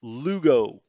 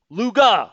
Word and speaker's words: Luga: And we're going to our final destination up here is Lugo. Luga. Luga. I was close. The It's the feminine pronunciation of Lugo.